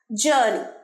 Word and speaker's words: journey: জার্নি বলবে না, জার্নি মাঝের রটা খুব একটা স্পষ্ট উচ্চারণ হয় না। জার্নি, জার্নি।